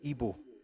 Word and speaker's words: Igbo: The word is not usually spelled and pronounced Igbo, but to the native it is Igbo. The GB being used as an explosive sound, IBWO, is probably the nearest we can get to the true pronunciation.